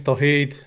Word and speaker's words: Tauheed: how to say it hey my name is tahit how's it going cool yeah so so i've